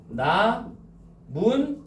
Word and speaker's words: 나뭇잎: 최종 발음 나문잎이지. 미은 기은 두 번 덧나는 거죠.